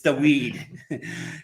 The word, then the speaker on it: Dawid: Kopera versus Dawid Śmiełowski from Poland. Dawid, yeah, it's spelled Dawid. It's the weed.